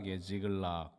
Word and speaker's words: 시글락: 접경지역에 있는 그러한 곳이었습니다 발음은 지글락이에요 이 어간부터가 되게 어지럽게 하죠 지글지글 들락날락 이런 느낌을 좀 주는 그런 도시에요 아니나 다를까 이시글락이라는 히브리어의